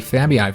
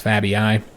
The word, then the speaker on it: Fabii: Okay, the head of the Fabii family. A note about this. So I've had a lot of people comment that with the double E's, this is just pronounced as an E sound, the Fabii family, not the Fabii family.